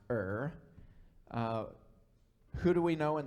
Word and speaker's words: Ur: of Ur you are some people pronounce that your I think it's properly pronounced her who do we know